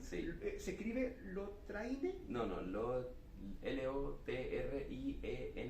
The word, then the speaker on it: Lotriend: No, L-O-T-R-I-E-N-D, es como un final al final, Lotriend. Lotriend, bueno, Sí.